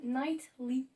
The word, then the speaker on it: Knightley: du coup en fait elle s'appelle night we keira knightley et on prononce pas trop le t on prononce mais un